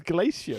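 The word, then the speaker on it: Glacier: You don't call it a fox's glacia mint, do you? I'm pretty sure that's how you meant to pronounce it. Oh, this is outrageous. G L A C I E R. Glacia.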